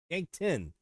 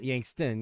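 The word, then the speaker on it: Yankton: Yank 10. Not Yankst. Yank 10.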